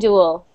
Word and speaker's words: dual: Okay, now we've got dual and dual. You just pronounce them like do. Dual and dual. D-U-L. Almost just like, not like dull, but dual. Dual and dual. Same pronunciation.